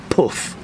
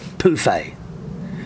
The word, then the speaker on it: pouffe: feet on, like pouffe, is pronounced like poof, not pouffe.